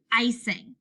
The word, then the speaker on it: icing: And then this word, it looks like it's going to start with an I, but it actually is a long I sound. Tricky. This word is icing.